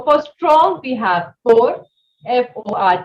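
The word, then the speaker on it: fort: strong we have four f o r t the t will not be pronounced for and for weak we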